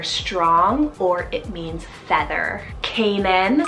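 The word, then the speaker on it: Kaynan: one means either strong or it means feather Kanan spell k-a-y-n-a-n Kanan I love the spelling for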